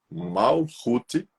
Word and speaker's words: Malkuth: E a Séfira 10, na árvore da vida, que é a Séfira de Malkuth, cuja pronúncia é Malhut, é a Séfira inferior, né?